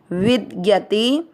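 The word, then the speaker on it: विद्यते: पहला चरण ना स में अ मिक्स करेंगे, ना सतो, वी के साथ आधा द विद य में अ मिक्स करेंगे, यते विद यते भावो।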